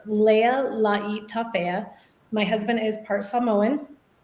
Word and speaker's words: Lealaitafea: do you say that so it's pronounced my last name is pronounced leia laii tafea my husband is part